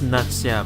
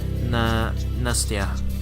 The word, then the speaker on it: Nastya: And that's Natsya by her. Is that how you say it? Nastya.